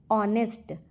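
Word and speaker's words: honest: ऑनेस्ट का उच्चारण vowel sound से होता है।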